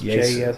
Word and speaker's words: Jesu: I really got into I still don't know how to say it, like Jesu or Yesu. It's Yesu. Yesu.